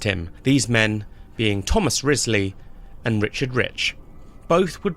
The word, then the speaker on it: Wriothesley: have picked up on, Thomas Wriothesley's surname is pronounced Wriothesley. To the untrained eye, its spelling would suggest that it's pronounced Wriothesley, and in fact, in a few audiobooks, I've heard it pronounced that way, but that is very much incorrect. It is Wriothesley.